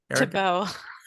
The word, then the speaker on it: Thibault: Thibault. Thibault, yeah. It's French, so everything's quiet, yeah.